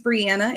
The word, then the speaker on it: Brianna: So, my name's Brianna. It rhymes with Indiana.